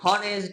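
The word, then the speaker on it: honest: অনেস্ট এটি অনেস্ট অনেস্ট এখানে অনেস্ট আমরা কি অনেস্ট বলি না অনেস্ট বলি আমরা কিন্তু সবসময় অনেস্ট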